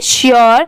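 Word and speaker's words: sure: ये है made M ए डी E made श्योर एस यू आर ई श्योर बहुत सारे लोग इसे सर पढ़ते हैं बट ये रॉन्ग होता है।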